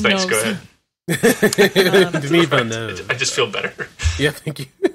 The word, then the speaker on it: Villeneuve: So, that brings us to today and Denis Villeneuve's Dune, which we can talk about pretty soon.